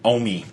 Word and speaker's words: OMI: How do you pronounce his name? Omi. Is it Omi?